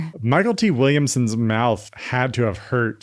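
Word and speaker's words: Mykelti Williamson: So, he spelled it phonetically as a stage name presumably just to stand out.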